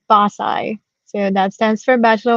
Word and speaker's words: BAScii: So our name is pronounced BAScii.